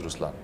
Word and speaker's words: Ruslaan: okay so even in raslan when you say raslan also means the lion it's the attitude of am but the right pronunciation is rlan okay there is so much into it even